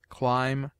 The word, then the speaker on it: climb: obtains in other languages it is mute in debt debter subtle doubt lamb limb Dum thumb climb comb womb it is used before